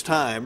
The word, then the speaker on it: Fresh Thyme: us about fresh thyme which you spelled like time but it's time right that's correct so fresh thyme farmers